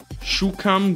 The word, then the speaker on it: szukam: I don't have a partner for Polish, but yeah, SZ right here is pronounced sh. Szukam gazety.